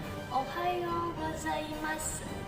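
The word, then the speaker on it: おはようございます: bahasa Jepang Ohayo gozaimasu ditulisnya Ohayo gozaimasu tapi dalam bahasa Jepang dalam pengucapan Bahasa Jepang ujung-ujung kalimat itu tidak diucapkan jadi Hanya dua kalimat atau dua huruf terakhirnya peta diucapkan seperti itu Jadi kalau misalnya dindingnya adamasu ada desu itu hanya Mask deh seperti itu Jadi nggak usah dibaca sampai ujung ya Nah selanjutnya untuk pengucapan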